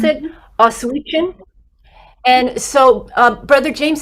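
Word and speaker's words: Oświęcim: And it looks like it's going to take place in, how did you pronounce it? Oswiecim.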